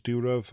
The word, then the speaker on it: Durov: Now, yes, I am aware that I pronounced the surname wrong. I think it's Durov, but unfortunately, trying to